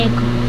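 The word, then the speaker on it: ache: फिर यहां पर भी एक में भी ए साइलेंट है इसको पढ़ते हैं एक ठीक है ए सी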